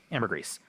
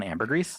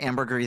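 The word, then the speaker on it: ambergris: Amber Grease. Uh I always forget that there you actually pronounce the S on Amber Grease. I forget that too. I've been calling it ambery the entire time and I know that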